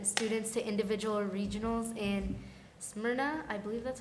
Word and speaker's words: Smyrna: They've also set numerous records, and they're gonna send students to individual regionals in Smyrna. I believe that's how you Smyrna, pronounce it. Tennessee, yes. Smyrna, Tennessee.